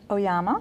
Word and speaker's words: Oyama: Oyama I love that your name rhymes with Obama no there's they call you Obama mr.